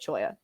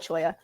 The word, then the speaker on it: cholla: are calling it i've there was a whole chat i don't remember which one it was where y'all were fighting about how to say it so i don't know i follow the crowd so apparently we're calling it cholla i'll be a sheepful and call it choya i do have so